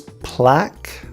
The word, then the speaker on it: plaque: with such words is plaque so a very similar word but with a Q instead of a G but the pronunciation is different plaque and again the UE are silent but the a has